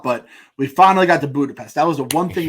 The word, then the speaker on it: Budapest: it budapest all right we're calling budapest budapest that's how the locals say when when in budapest